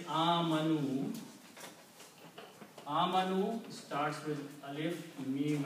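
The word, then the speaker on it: آمَنُوا: And if we make the plural of this, we simply add a vav with an alif which is not recited. So the word is pronounced as amanu.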